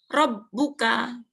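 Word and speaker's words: ربك: ini R nah ini tasdid dibacanya R dibacanya bnya itu double R bnya tanwin kafnya a rbuka ya kalau ini rbakabuka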